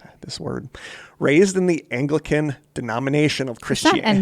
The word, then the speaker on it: Anglican: Raised in the Anglican de uh this word raised in the Anglican denomination of Christianity. Angelican is it? Yeah, maybe it is. No, Ang G L I K. I think that's Anglican.